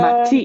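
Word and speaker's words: 街: You might have heard it pronounced as Uh, machi it, before. it looks like two Earths between to go. Sadly, no. So, this one is pronounced as machi, means city, specifically a large Oh, city.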